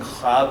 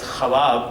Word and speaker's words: ख्वाब: He has played with adding one syllable by pronouncing khab as khawab to keep up with the meter.